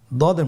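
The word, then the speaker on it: ض: করে উচ্চারণ করতে হবে দদের মাখরাজ জিহ্বার গোড়ার কিনারা সামনের উপরের দুই দাঁতের গোড়ার সঙ্গে লাগিয়ে উচ্চারিত হয় আপনারা আবার উচ্চারণ করার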